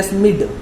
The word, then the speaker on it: Schmidt: यानी auto SCHMIDT, इसको हम पढ़ रहे हैं स्मिड, क्योंकि बाकी सब को साइलेंट कर दिया एक बार.